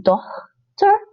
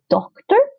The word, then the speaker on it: dochter: It's dochter. You don't want to say doctor, because doctor is doctor, your doctor. So you want to say dochter, not doctor.